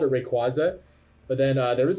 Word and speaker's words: Rayquaza: this guy would pronouncing he would call it pronounce it like rayquake oh my God that